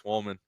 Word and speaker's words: Wallman: Well, Like woman, but with 2 L's. Hold on. That's how you say it? Wallman. Wallman. Wallman. Yeah. Wallman. Yeah, like wall and man.